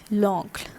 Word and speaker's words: l'oncle: Alright, so the pronunciation would be l'oncle.